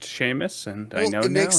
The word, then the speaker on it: Seamus: correct me i guess we americans just read it as seamus but it's pronounced sheamus and i know it